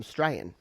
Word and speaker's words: Australian: You don't usually pronounce the first syllable, Australian. So Australian can become Strayan. It's 2 syllables.